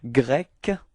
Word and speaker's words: grec: Okay, so we do have grec, okay? So it's ending with a K, K, K, grec, okay? And feminine form is the same, it's grec, okay?